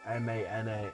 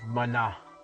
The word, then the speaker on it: Mana: way but you know being from Mexico he would always put some emphasis on the last a so it'd be Secret of Mana Mana that's how we always